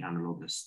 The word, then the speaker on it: analogous: of view which past president is most closely analogous to trump is most closely sorry uh i i might be mispronouncing this word analogous a-n-a-l-o-g-o-u-s oh okay